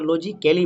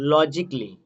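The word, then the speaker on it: logically: যেমন এখানে দেখো, যেমন লজিক্যালি, আমরা লজিক্যালি বলছি কিন্তু এটা লজিক্যালি নয়, এটা লজিকলি। প্রথমে আমরা লজিক পড়বো, LOGIC, লজিক, তারপরে লি, এটা কিন্তু এখানে সাইলেন্ট, লজিকলি।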